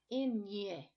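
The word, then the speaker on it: eñe: This symbol changes the pronunciation to a ny sound, kind of like we say canyon in Spanish.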